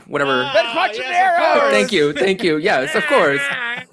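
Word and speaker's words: Ben Quadinaros: Oh my gosh, I can't even pronounce the name, but it's Ben Quad, whatever. Ben Quattrocero!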